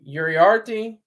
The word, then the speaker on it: Uriarte: Uriarte.